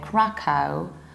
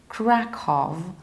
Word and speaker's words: Krakow: word we can say Krakow Krakow Krakov or Krakov bus if you'd like to impress the local people try to say click off and everybody will love